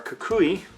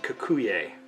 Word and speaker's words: cocuy: going to try our Kukui I always want to pronounce it kakuye even though that's not how it's pronounced I'm gonna demonstrate once